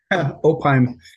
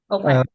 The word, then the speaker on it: Opheim: Yeah, Apologize if I mispronounced your name. Opheim. Opheim.